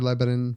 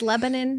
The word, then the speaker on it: Lebanon: Ken Zimmerman from Lancaster Lebanon Intermediate Unit welcome thank you it's great to be here yes did he say it right it's Lebanon not Lebanon yep and I was looking